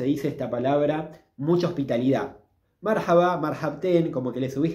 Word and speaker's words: marhaba: usa para decir hola algunos dice marhaba otros dicen marhaban es lo mismo marhaba o marhaban es lo mismo el acento va en la primer sílaba en esta palabra marhaba Cómo pueden responder también